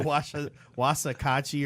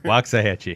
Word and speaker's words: Waxahachie: we crushed the Wasakachi or whatever. Waxahachie. There you go. That gotta at least learn to pronounce it, you know.